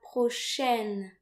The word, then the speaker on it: prochaine: So note here that A and I are pronounced like AI in the English word said. So the letters AI, when they occur together in French, they're usually pronounced like E.